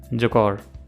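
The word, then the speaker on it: Jaquar: जकौर है, वैसे उसको आप जैगवार भी बोल सकते हो, बट इट्स एक्चुअली प्रोनाउंस्ड जकौर।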